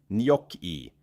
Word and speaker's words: gnocchi: Gnocchi is said nyok-ee.